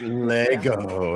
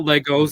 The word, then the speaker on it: Lego: At least it's pronounced Lego. You know, bricks. Thank you. Not Legos.